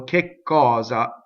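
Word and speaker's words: che cosa: the way the word k is a doubling word right it's a strong mana so we'll kick cause up that's what you would say kick cause up again double K we go up to it we stop we don't say it we only say one K and we stop in the phonation here's another thing right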